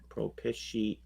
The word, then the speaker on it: propitiate: How do you spell it? P-R-O. Okay. Propish. P-I-T. Propish. I-A. Propitiate. Okay, close enough.